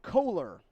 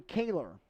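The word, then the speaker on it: Koehler: be an interesting matchup two guys whose last names are spelled the exact same and pronounced nothing alike both of them spelled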